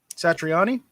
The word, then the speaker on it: Satriani: Satriani.